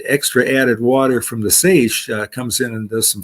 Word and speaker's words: seiche: Seiche is a French word, S-E-I-C-H-E, I believe, but it's pronounced seiche.